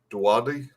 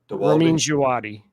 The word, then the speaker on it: Djawadi: Dwadi? Ramin Djawadi.